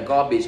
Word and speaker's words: garbage: TH có từ G nó có hai chữ A chữ A đầu tiên là âm a a dài và chữ a thứ